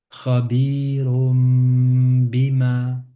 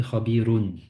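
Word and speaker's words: خبير بما: Khabirum bima. Si on s'arrête, ça fait khabirun. Tanwi. Un. Mais le un, il est suivi du ba. On a donc khabirum bima ta'malun.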